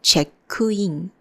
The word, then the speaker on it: チェックイン: It's the check-in. C-H-E-K-K-U. 2K means you have to make this small jump.